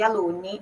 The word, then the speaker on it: alunni: italiano, aluno é aluno, tem dois N's, então dá aquela puxadinha na pronúncia do N. No caso, no plural, fica alunni.